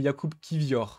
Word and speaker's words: Jakub Kivior: le rappelle, qui nous dit bien que c'est Jakub Kivior.